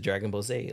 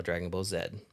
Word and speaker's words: Dragon Ball Z: in their language so they opt to pronounce the letter Zed as zetto which is closer to zed than Z yep yeah so we're